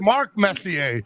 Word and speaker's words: Messier: It's Mark Messier.